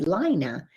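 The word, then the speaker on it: Laina: an astronaut had a son and his name is spelled the way my name is l-a-i-n-a lina and since um i got quite a few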